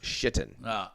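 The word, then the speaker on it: Šatan: Jim Schaefer, there was a player in the Buffalo Sabres named Satan pronounced Shittan.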